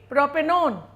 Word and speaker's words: propanone: will be proper null if it is a ketone we will add o n e but we will not pronounce it like 1 so it will be propanone if it is carboxylic